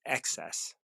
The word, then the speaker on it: excess: It adjusts excess and deficiency. I gotta make sure I pronounce that right, because I don't want it to sound like access.